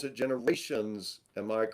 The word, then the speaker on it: Generation Z: Cognition and Generation Z, which you pronounce it generations.